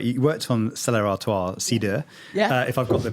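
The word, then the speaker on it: Cidre: One of the things I love as well, but you worked on Stella Artois, cider, if I've got the pronunciation right. Cider, not cider.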